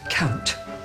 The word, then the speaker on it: count: like that oh dear you will pronounce the T at the end of the word count count your blessings blessings